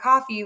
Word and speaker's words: Coffey: I'm like, my name's Coffey, like the drink, but spelled different because it's spelled EY.